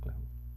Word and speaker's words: Clairaut: chama de equação diferencial de claro ou claro, no francês não é bom não. OK? Então, essa é a equação diferencial do clô, né?